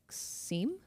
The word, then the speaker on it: SIEM: How do you pronounce that acronym? I would think like SIEM. I say SIEM as well. And all the SIM people out there are taking up arms at this point. Oh. That say it's pronounced SIM.